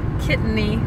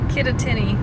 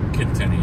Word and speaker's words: Kittatinny: So this is called, how do you say that tunnel? Kittany. Kittatinny. Kittatinny, yep.